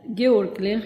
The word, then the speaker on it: Georg Lennkh: آقای گیورگ لنخ، اینجور که در اتریشی تلفظ میشه، سفیر کبیر مشاور بین